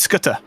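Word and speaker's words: Skutter: he can get it it's Scutter SC ah okay I've been pronouncing that wrong all the time which surprise surprise ah so it's it's uh the C is a k Africans South African race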